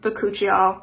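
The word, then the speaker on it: bakuchiol: a while um and it's actually pronounced boccuccio i've talked about this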